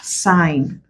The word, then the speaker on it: sign: and it is silent examples we have sign so though this is at the end the G is still silent as sign or even